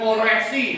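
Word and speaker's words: Koresy: Misalnya Koresi, nah itu nama raja, tapi bacanya Kores.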